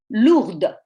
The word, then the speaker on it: lourde: the feminine form, and the feminine form is pronounced une valise lourde with a D.